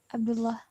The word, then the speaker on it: Abdullah: Abdullah. Muhammad. Muhammad. Muhammad. Muhammad. Yes. Muhammad. Very good. Abdullah. Abdullah. No, you're pronouncing double. Abdullah. You're pronouncing double. Abdullah. Abdullah. Abdullah. Abdul. Abdullah. Not double L.